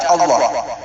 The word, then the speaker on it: Allah: maupun Alquran tertulisnya Allah tapi dibaca tafhim Dibaca Allah jadi penulisan yang benar bukan Allah tapi Allah dibacanya tapim dibaca Allah dan ketika kita mengucapkan